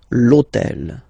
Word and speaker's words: l'hôtel: starts with H, but remember that in French we don't pronounce H, okay, so basically the first sound of the word is the vowel O, okay, so for the same reason, needs to disappear.